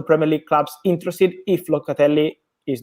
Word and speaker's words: Locatelli: your fellow countrymen if i pronounce this right locately perfect pronunciation congrats and yes let me say that